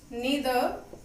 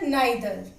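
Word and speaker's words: neither: बाय, नीदर, नीदर नाइदर, इधर आइदर। आप किसी भी को प्रोनाउंस कर सकते हो, दोनों सही है, बस अमेरिकन और ब्रिटिश है। नीदर अमेरिकन है और जो नाइदर है वो ब्रिटिश है।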